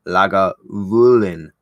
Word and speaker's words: Lagavulin: first legal distillery at Lagavulin pronounced Lagavulin after the Gaelic loggin Mullen the hollow where the mill is the hollow where the